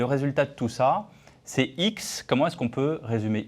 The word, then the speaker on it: Heex: êtes le cofondateur de x technologies on prononce bien x h le x avec étiez de boutons